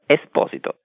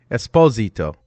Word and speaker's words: Esposito: introduce me first yeah pronounce my last name correctly I'm sorry Italian way esito no exposito Esposito okay Esposito I know everything about I think an American or a Canadian hockey player very famous yeah Esposito yeah okay that's the Italian pronunciation well I will I